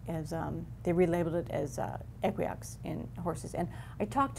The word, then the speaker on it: Equioxx: And then they released it as, they relabeled it as Equiox in horses. And I talked to a tech services vet from that company, and they pronounce it Equiox, like equine. So I'm Equiox.